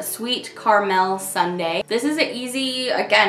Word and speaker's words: Carmel: I mean, The first few times I read that, I was pronouncing it sweet caramel sundae, but it's for Carmel.